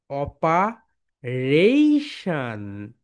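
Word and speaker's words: operation: এ দেখো, এটা হচ্ছে আর, আর এর উপর স্ট্রেস রয়েছে, বলো অপারেশন।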